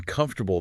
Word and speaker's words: comfortable: Like in comfortable, the first syllable gets stressed. Yeah, that's why you get that comf sound.